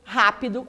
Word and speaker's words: rápido: o professora não é porque rápido é uma proparoxítona perfeito vamos pagar letras